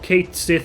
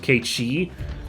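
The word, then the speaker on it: Cait Sith: Yeah, so I was like, you guys, this character called Kate Sith is going to show up, but his name's actually going to be pronounced Kate Shi.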